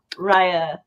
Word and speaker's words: Rey: I keep calling her Rye because of you.